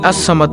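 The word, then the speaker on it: ٱلصَّمَدُ: এই আস সামাদ নামটি হল আল্লাহর 99 টি নামের মধ্যে একটি নাম। আল্লাহর এই গুণবাচক নাম আসসামাদু এর জিকিরের আমল ও ফজিলত তুলে ধরা হলো| নামটির সঠিক উচ্চারণ হল আসসামাদু অর্থ হলো তিনি কারো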